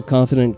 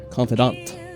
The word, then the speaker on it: confidant: gonna break the general confident guide confidant that's right pronounce it right or